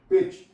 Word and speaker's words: pitch: For example पिच, PITCH। अब CH से पहले टी आई है और टी साइलेंट हो गई है।